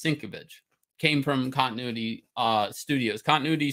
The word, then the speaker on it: Sienkiewicz: So, Bill Sienkiewicz, correctly, if anybody pronounces his name correctly, it's Sienkiewicz, came from Continuity Studios.